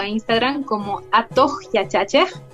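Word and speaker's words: Atuq Yachachiq: La página la pueden encontrar en Facebook o en Instagram como Atohyachache, que se escribe diferente a como se escucha. Se escribe A-T-U-Q, espacio, Y-A-C-H-A-C-H-I-Q, Atohyachache, ¿no?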